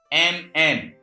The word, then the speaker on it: column: Once more, if in any word consonant N is available after M, N is silent. As example, COLUMN.